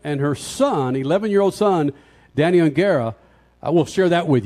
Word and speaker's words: O'Gara: Some news about her husband, and her son, 11-year-old son, Danny O'Gara. I will share that with you coming up, Freak Nation. What, Crasher? How do you say it? O'Gara. O'Gara.